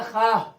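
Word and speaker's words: خواہ: खवाह लिखा गया मगर पढ़ा जाएगा खाह।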